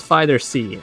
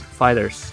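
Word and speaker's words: FighterZ: and no it's not fighter C like some people claim it to be it's pronounced as Fighters all right Arc system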